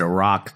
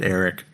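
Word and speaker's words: Erak: They don't pronounce it Iraq, do they? Because it's spelled E-R-A-K, but I think they call him just Eric.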